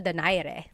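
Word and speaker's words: Donaire: So, our first poll here is going to be Mani Pacquiao versus Nonito Daire or is in in the Tagalog uh pronunciation. Nonito Dare.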